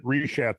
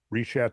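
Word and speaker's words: Richat: When you're talking about the rechat structure, Reshat structure. I think it's a soft C.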